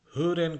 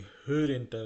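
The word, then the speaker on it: hören: যেমন এই যে এখানে যে হুরেনটা রয়েছে, এটা বাংলাদেশ অনেকে হৈরেন বলে, এটা হৈরেন না মোটে উচ্চারণ, এটা হচ্ছে হুরেন। ঠিক আছে, ও উমলাটের উচ্চারণ, ওটাকে টান দিতে হবে, হোরেনটাকে হুরেন বলতে হবে, ভেঙায় বলতে হবে হুরেন।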